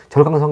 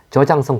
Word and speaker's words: 저장성: 절강 에는 지명이 나오는데요 이 절강 이라고 하는 것이 그 지금은 이제 절강성 이라고 안하고 현지 발음을 존중해서 저장성 그렇게 하는 것 같습니다 그 아머 충북 동부지역에